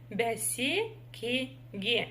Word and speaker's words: бәсекеге: Бә, бәсе, бәсеке, бәсекеге. И для того, чтобы прочитать перевернутую букву Е в слове бәсекеге, в первом слоге, если кто вдруг не заметил, то за основу нужно взять букву Я обыкновенную. Бәсекеге. Бәсекеге.